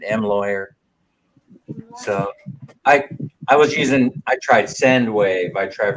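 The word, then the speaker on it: M. Lhuillier: I can never say that name. It's the way it's spelled, I guess. M. Lawyer's the way Minnie says you pronounce it. M. Lawyer.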